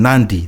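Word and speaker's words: Nadi: that yeah and then nandi there's an n before the d 90 instead of nandi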